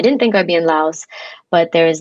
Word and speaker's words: Laos: Yes, you moved to Laos, yeah. or that's American pronunciation, Lao.